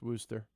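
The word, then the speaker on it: Worcester: It's worse. It's Wooster.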